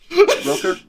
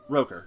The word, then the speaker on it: Rooker: Rooker. Rooker. Yeah, Roker.